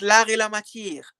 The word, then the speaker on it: L'Art et la Matière: Hey, I'm not your friend's machine, but it's l'art et la matière.